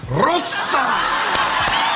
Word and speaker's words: Rosa: Rosa! Rosa! But you have to say it like, you have to really roll it long.